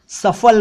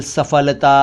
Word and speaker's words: सफल: सफल एक शब्द है, कई लोग सफल बोलते हैं, सफल, सफलता, असफल, असफलता ऐसे बोलते हैं, जबकि इन शब्दों के सही उच्चारण हैं सफल, सफल, सफलता, असफल, असफलता। तो हम सबको इसका ध्यान रखना चाहिए। दोस्तों, दरअसल फ और फ